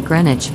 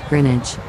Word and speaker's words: Greenwich: been given an upgrade you said greenwich just there but i've heard locals call the place greenwich greenwich not greenwich perhaps i'm over egging